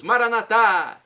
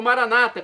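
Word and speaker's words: maranatha: aramaico dialeto de Jesus maranat como dizemos nós católicos ou Maranata como dizem e nossos irmãos separados os evangélicos ou protestantes não importa a pronúncia o significado é o mesmo vinde Senhor Jesus será o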